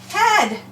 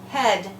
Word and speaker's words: head: what is this word head good again we have the vow to more the vowel digraph EI the e is short and the a you don't hear at head and how about this